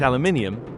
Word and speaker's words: aluminium: To quote the rock gods Biffy Clyro, I pronounce it aluminium cuz there's an I next to the U and M.